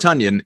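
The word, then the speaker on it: Tonyan: again it's interesting robert tanyan who as we know i i keep wanting to say tanyan tanyan rhymes with funyuns robert tunyan who just you know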